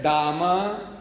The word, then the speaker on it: Dame: to the toilet and it's written there Dama, D-A-M-E, Dame. They pronounce Dama and H-E-R-E.